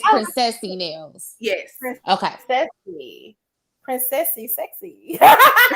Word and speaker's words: Princesse Nailz: It's like saying princess like French. So it's pronounce it. I say Princesse Nailz, but it's Princessy Nailz.